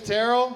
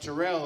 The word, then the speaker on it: Terrell: care my name is Terrell he did pronounce that correctly doesn't always happen have you read my name it's pronounced Terrell in your head let's